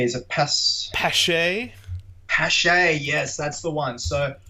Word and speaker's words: Paasche: I don't know how to pronounce it. It's a French name. It starts with P. Is it Paasche? Paasche, yes, that's the one.